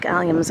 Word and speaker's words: Allium: also have some drumstick alums I know where they're at uh so I'll be sharing those with you later but let's go ahead and talk about alums it's Alum Alum it's how it's said they're also known as